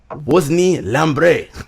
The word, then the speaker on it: Wosny Lambre: Wosny Lambre. That was good. That was pretty good Haitian Creole pronunciation on your part, Gerard.